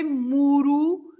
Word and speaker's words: muro: Murro, as it is on the screen now, is a punch. Yes. And if you say muro, is a small wall in your garden, right? Muro. Wow. Yes. So that's a difference in meaning as well, if you roll or if you don't roll the R, right?